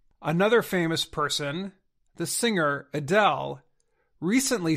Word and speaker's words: Adele: famous person the singer Adele recently said her fans have been saying her name incorrectly for many years she said her name should sound like a Dale of course many fans